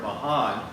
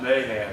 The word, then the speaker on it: Mahan: of the USS Mayan now I've heard most of the time his name for Albert there Mahan and most of the time it's pronounced that way every time I ever heard the ship it was pronounced Mayan so that's what I'm going to do or otherwise I'll